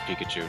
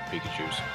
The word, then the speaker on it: Pikachu: Robuscus, on your earlier note, I was actually checking, it's just Pikachu, not Pikachus.